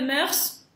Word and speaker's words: mœurs: les yeux, yeux, mœurs, в слове mœurs читается s. Исключение.